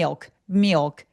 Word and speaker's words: milk: 밀크 밀크 밀크 발음할 때 미역라고 제가 설명드렸었는데 옛날 영상에서 미역을 영어로 굴려 보세요. 미역 미역이라고 굴려 보세요. 미역 미역 그게 밀크 발음이에요. 미 milk 미역 미어크 비슷하죠?